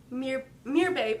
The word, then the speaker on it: Merbabe: I was like, how do you pronounce that? But okay, Merbabe. Merbabe. Okay, like, come here, babe.